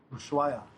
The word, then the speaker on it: Ushuaia: Ushuaia.